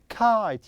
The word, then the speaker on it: kite: Yes, it is kite. Yes, that's right. Kite. Kite. Perfect. So we have I, any letter here, then E.